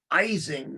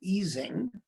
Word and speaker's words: Ising: His name is originally Ising, as I pronounce it. This is an affectation I picked up from Elliot, but it's widely mispronounced as Ising, not Ising.